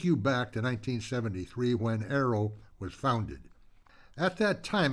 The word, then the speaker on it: AARO: A A O pronounced arrow.